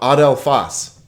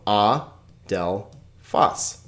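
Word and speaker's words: ἀδελφός: How about adelphos?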